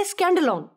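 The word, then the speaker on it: σκάνδαλον: لفظ سے ماخذ ہے۔ اس لفظ کا تلفظ ہے اسکینڈلون، اور یہ بالکل وہی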